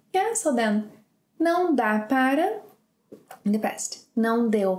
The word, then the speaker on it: para: Don't forget that para can be pronounced as pra.